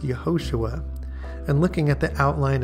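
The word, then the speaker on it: יְהוֹשֻׁעַ: The original Hebrew, which is the root word behind the etymology of Jesus, is pronounced Yehoshua.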